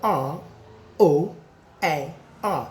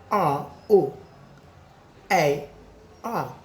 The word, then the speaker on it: roar: Some people say it is pronounced roar. Roar. This is a sound made by wild animals in the forest, especially lion. It is not roar. It is called what? Look at the sound here.